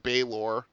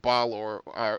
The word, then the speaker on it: Balor: There you'll find things like Baylor, or like the university and not Balor, or that the emphasis